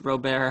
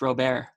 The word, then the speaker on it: Robert: I'm all aboard on this Luis Robert hype train. I think that's how you say his name, Robert, not Robert. I think it's Robert.